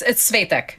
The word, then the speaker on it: Svetek: It's Svetek. It's just say it the way you did. Just stress the first syllable instead of Svetek.